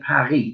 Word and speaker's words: Paris: france when we say paris but they say paris they don't pronounce the self at the end of paris